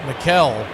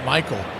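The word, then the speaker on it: Maikel: It's originally Ronald Akuna Jr.'s 's cousin M A I K E L Garcia was being pronounced Mikuel for the first several years of his career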